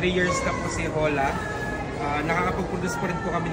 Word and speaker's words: Hola: Hola. Pinopronounce po siya with H.